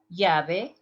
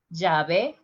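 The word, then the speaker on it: llave: spanish next one here liabe listen the pronunciation yave in central america jave the rest of the continent let's see the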